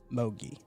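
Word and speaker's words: Mougey: Mogi.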